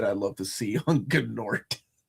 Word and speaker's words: Gnort: Who's an artist that I love to see on Gnort? Is the G silent on Gnort? I never got a chance to ask Keith Giffen. I like it being pronounced.